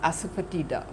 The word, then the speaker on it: asafoetida: So, Hing or asafoetida, okay, I think that's pronounced asafoetida, whatever. There's no emphasis on any of the syllables or something of that sort.